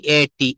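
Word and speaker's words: ate: যেমন এই যে বাক্যটা, ভার্বটা দেখেন, ইট মানে হচ্ছে খাওয়া, ই এ টি, ইট। হ্যাঁ, ইট মানে খাওয়া, আমরা এটা কিন্তু ইট বলবো। আমরা এটাকে অনেকে অ্যাট বলি, অ্যাট হবে না, উচ্চারণটা হবে এট, এ টি ই, এট।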